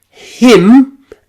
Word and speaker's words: hymn: That final N is silent. Autumn, column, hymn, and solemn.